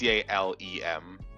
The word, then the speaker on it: Calem: No, I think it's Calem. Calem. Yeah, it's like Lemmingsworth. Lemmingsworth. Calem. Yeah. Yeah. It's like Calem, not Callum. Yeah, Calem, Lem like lemon. Lem.